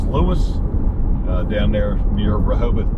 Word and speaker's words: Lewes: down to Lewis Delaware I know sometimes it gets pronounced L but it's Lewis uh down there near